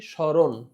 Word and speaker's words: স্মরণ: প্রমিত উচ্চারণ হবে কি স্মরণ স্মরণ কেন দেখো দন্তস মত যদি দন্তস এর সাথে মটা শব্দের শুরুতে থাকে তাহলে মটার কোন উচ্চারণ হয় না বরং এখানে দন্তসটার উচ্চারণ হবে তালেবস এর মত।